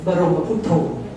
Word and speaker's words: บรมพุทโธ: คะ เ่อ เนี่ย ก็ ท่าน ก็ จะ บอก ว่า ต้อง อ่าน ว่า บร บรมพุทโธ นะ คะ เอ่อ ก็ เล่า คววาม